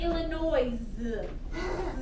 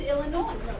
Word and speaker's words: Illinois: Everyone say Illinois, Springfield. Illinois, Springfield. You do not say Illinois. That S is silent, all right?